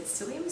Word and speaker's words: psyllium: is spelled p-s-y-0-i-u-m that's it's actually said psyllium so it's a solid pea and swim husks is